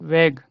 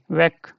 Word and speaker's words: Weg: another example as well, weg. Yeah, weg, weg. Yeah, again I'm telling this gay is at the end, so don't read it as weg. Okay, weg.